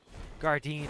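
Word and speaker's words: Gardein: there's this brand uh Gardine or hardine I usually say hardine because that's how it's spelled in Spanish but um they have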